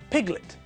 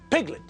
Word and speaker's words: piglet: Now, when we look at the second word, piglet, we can see the same thing. The apostrophe is in front of the first syllable, which tells us that the stress is on the first syllable. Piglet, not piglet.